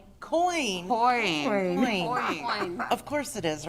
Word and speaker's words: QEon: QN, but Coin.